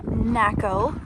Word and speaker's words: Naco: We are staying here at the Bisby RV park in Naco, Rhymes with Taco, Arizona.